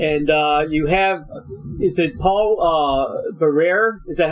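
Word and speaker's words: Paul Barrère: And you have, is it Paul Barrere? Is that how you pronounce him?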